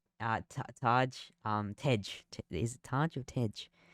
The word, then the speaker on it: Tej: And Taj, Taj. Tej.